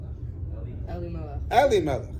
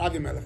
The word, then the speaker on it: Elimelech: Eli Melech. Oh, you said right to Eli. Eli Melech, not Avi Melech.